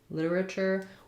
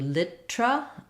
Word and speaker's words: literature: English literature um literature we tend to do literature all four syllables and it sounds we make this one into a flap so it sounds like literature this Tu is a CH sound um literature um so practicing that slowly literature first syllable stress um British more literature they do that what we were just talking about with restaurant they instead of litera they do litra so they reduce to three syllables English American English literature